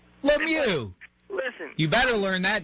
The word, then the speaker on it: Lemieux: Limo. Oh, come on. Lemieux. Lemieux.